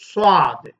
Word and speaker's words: صاد: சாதை உச்சரிக்கின்ற போது சுவாது சுவாது இரு உதடுகளையும் குவித்து வைத்துக் கொண்டு சொல்ல வேண்டும். சுவாது என்று உச்சரிக்க வேண்டும். அதுதான் சரியான உச்சரிப்பாக இருக்கும்.